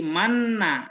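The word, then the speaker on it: مَنَّ: Jadi asalnya manana begitu. Asalnya manana. Nah, karena sikol ya berat nanti diidgomkan. Jadi manna ya. Jadi disukun nun awal, kemudian di cara bacanya digabung kepada nun yang kedua. Manna begitu.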